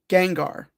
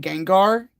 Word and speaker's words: Gengar: Gengar.